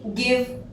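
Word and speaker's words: give: इसके बाद भी हम गिव बोलते हैं।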